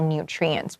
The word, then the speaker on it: nutrient: potassium these are all nutrients we need so nutrient sounds like the word tree because the food on a tree is healthy it has lots of nutrients so please underline t